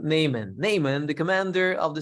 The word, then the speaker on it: Naaman: Not a horseman, Naaman, but just Naaman. Okay. Even though the horse does says Nay. Rhymes with Nathan. Nathan? No, not Nathan either. It rhymes with him. Nathan is a Nathan man. This one is just Naaman.